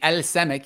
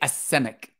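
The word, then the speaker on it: السمك: So you don't pronounce that lam. You don't say el semek. You say es semek.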